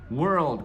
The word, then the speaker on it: world: difícil é a palavra world, que é mundo em inglês, tá? World. Como é que pronuncia? Eu falo o é normal, e aí eu faço um R bem enrolado de porta, were.